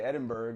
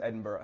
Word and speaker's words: Edinburgh: pronounce Edinburgh. I used to say Edinburgh. I said Edinburgh until too. about an hour ago, and it's Edinburgh.